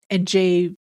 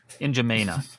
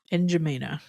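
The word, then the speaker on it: N'Djamena: Fort Lame called NJina since 1973 is the capital city of Chad.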